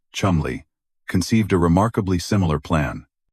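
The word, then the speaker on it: Cholmondeley: Independently of Fleming, a young flight lieutenant in MI5 section B1A, Charles Chomanderly pronounced Chumli conceived a remarkably similar plan.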